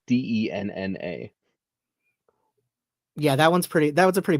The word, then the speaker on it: Denna: I don't know how you're not pronouncing it correctly though, because it's Denna.